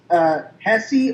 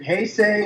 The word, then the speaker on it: Heisei: The Showa series, for me, had more, and I am a diehard Hesse fan.